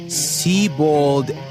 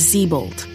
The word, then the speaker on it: Sebald: Sebald Adelbert Smiter. Moron pronounced it wrong. His name is Zebold.